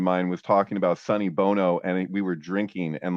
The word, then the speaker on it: Bono: Yeah, Bono, yeah. Dude, I had a fucked up thing happen with that, where an English friend of mine was talking about Sonny Bono, and we were drinking, and like I didn't